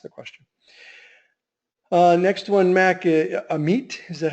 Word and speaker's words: Amit: Next one, Mac, Amit, is that how you pronounce the name? Yeah, Amit.